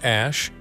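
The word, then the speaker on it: Æ: out of a science fiction film n is pronounced Ash and AI is my contribution Elon said when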